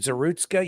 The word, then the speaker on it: Zarutska: Irina, I can't pronounce. Irina. What's the last name? I'm sorry. I apologize. There's Zarutska. Is it Zarutska? Yes. Irina Zarutska.